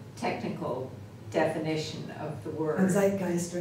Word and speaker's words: zeitgeist: I know the technical definition of the word Zeitgeist or not um yeah I didn't have a spell it's okay yeah I mean I I find